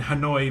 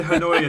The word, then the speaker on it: Hanoi: This occurred in Hanoi, Vietnam. Um, uh, the hospital in Hanoi. Wow. Is that That's bad pronunciation. Where? Han, Vietnam. I Yeah. Well, I said Hanoya, then I was just like, h this uh